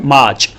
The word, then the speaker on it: March: इसमें ये जो आर है ये साइलेंट रहता है ब्रिटिश इंग्लिश के रूल्स के अकॉर्डिंग।